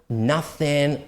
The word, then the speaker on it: nothing: be careful with um words written with o right but are pronounced with ah like for example sun nothing onion and then words like